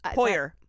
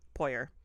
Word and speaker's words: Poirier: I'm going to say it like that because it's spelled Poirier. Poirier. Poirier. Yeah, that sounds right.